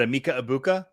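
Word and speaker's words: Egbuka: Is it Emeka Ibuka, Teteroa McMillan, Quinshawn Judkins, or Cam Scattaboo? And yes, I pronounced all 4 of those names correct.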